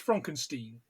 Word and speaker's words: Frankenstein: It's Frankenstein, like bouquet. Yeah. Hyacinth. But aren't you the grandson of Victor Frankenstein? Yes, but it's pronounced Frankenstein.